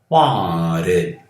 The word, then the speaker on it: wanted: Lembrando que você pronuncia este E somente depois de T e D.